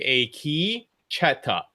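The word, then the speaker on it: Akecheta: A key, you should say a key. It's like a key cheta.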